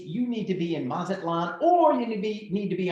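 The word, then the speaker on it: Mazatlán: Mazatlan. Okay, no, hold on. You got to say it right. Mazatlan.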